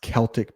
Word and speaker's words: Celtic: It's pronounced Celtic people.